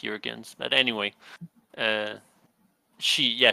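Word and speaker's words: Juergens: deal her name Molina J I guess it's urans it's with a J but oh okay you know Jurgens but I'm sure it's pronounced urans but anyway uh she yeah she did won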